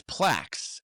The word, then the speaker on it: PLACS: And when you sound it out, even though it doesn't spell it out correctly, it's Plax.